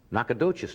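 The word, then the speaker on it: Nacogdoches: the 7th and Steven Austin University in uh nadas Texas did I pronounce that right yes anybody here from nakad dois on November the 18th the one and only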